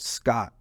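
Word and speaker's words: Skat: He and four other guys, German guys, they're all in their 80s to 100, and they play this German game called Scott, and it's pronounced S-C-O-T.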